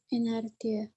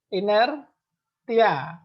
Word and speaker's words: inertia: Inertia. Inertia. Bacanya T-nya ini S ya.